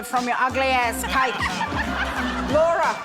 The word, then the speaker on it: Laura: Laura rhymes with Bora and Snorer.